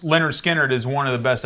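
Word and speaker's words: Lynyrd Skynyrd: And pronounced Leonard Skinnerd is one of the best albums on the planet.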